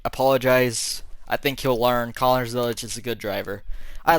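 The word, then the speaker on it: Connor Zilisch: Connor Zilic.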